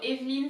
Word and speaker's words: Evelyne: So the first E has an accent on it. I know that it's not apparent when it's in English, and also because most likely it's got a capital letter, but there is an accent that indicates that you have to pronounce E, Eveline, Eveline, Eveline.